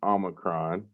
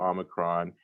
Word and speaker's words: Omicron: Now, if you have not heard the terminology Omicron, it is pronounced Omicron, not Omicron.